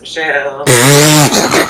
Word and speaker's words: Michelle: I feel like even the song Alexis Michelle, your last name, it rhymes with hell.